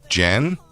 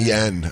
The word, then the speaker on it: Jen: And she's like, Jen? He goes, oh, it's not yen. I thought it was yen.